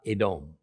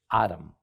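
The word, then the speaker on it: אדום: play on Word okay the Hebrew word for red is not adome it's Adam just like Adam and Eve however the two words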